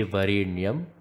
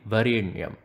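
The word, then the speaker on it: वरेण्यम्: then there is wrong the tongue should be touch near roof of the mouth when you are pronouncing the N in Varinia Varinia you can find little bit of a pressurised pronunciation there and rule number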